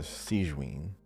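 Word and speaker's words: Sigewinne: Is it Sigwin or Sigvin? How do you say it? I don't know. I didn't play in English, so I just say it like. Okay, because in English they were calling her Sigwin.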